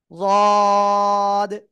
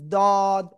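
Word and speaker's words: ض: তো সেই অবস্থায় আপনাকে উচ্চারণ করতে হবে রদ, রদ। এটা উচ্চারণ করার সময় খেয়াল রাখবেন জিব্বার আগা উপরে দুই দাঁত বা গোড়ায় যেন না লাগে। অনেকে বলবেন দদ, দদ, এরকম বলা যাবে না।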